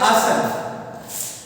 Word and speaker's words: आसन: में क्या आता है, लास्ट में ए आता है जिसको हम लोग साइलेंट कह देते हैं, आसना। बट इनको जब हम लोग प्रोनाउंसिएशन करते हैं तो क्या होता है, इनको आसन कहते हैं।